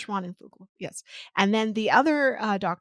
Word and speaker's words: Schwanenflugel: get this wrong, and I believe her last name is pronounced Schwanenflugel. great job. Thank I you. don't know though. I believe it's Schwanenflugel.